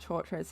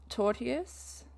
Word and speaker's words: tortious: It's not torturous, is it? Okay, you know that word. I should go to pronunciation later. Tortious, interference with contracts, intentional interference with prosthetic.